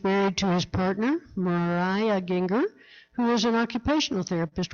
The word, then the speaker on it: Gienger: Speaker today, the Reverend Gienger, rhymes with finger.